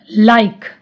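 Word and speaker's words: like: Next rule है, जब किसी वर्ड के लास्ट में ई आए तो ई का उच्चारण नहीं किया जाता, उसको साइलेंट रखते हैं। चलो एग्जाम्पल देखते हैं। अब देखो लाइक, एंड में क्या आ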